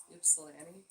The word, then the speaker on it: Ypsilanti: Ypsilanti. What? Ypsilanti. Ypsilanti? Did I say it right? I don't know. Ypsilanti. What if it's Ypsilanti? Ypsilanti? Well, it's a Y. He emphasized the Y.